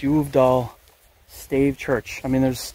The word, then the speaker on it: Uvdal: check out the uh I think it's pronounced y doll St church I mean